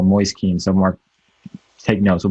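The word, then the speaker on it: Moise Kean: also just brought in noise keen and that is actually the correct pronunciation go noise keen some more take notes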